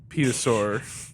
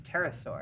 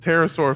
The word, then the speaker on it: pterosaur: petasaur, A what? A what? petrosaur. I don't know how to pronounce this word. I think it's pterosaur.